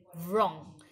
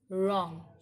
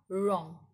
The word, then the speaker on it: wrong: it we don't say wrong we call it as wrong w is silent here and we pronounce the word with r wrong right rep regal wrinkles